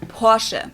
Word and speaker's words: Porsche: a name properly Porsche so there's like short a sound in the end Portia it was founded by